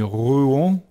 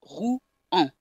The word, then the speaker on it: Rouen: Yeah, you can't glide it. You really have to pronounce syllable by syllable. Rouen. You can't try to have it glide like the language usually does.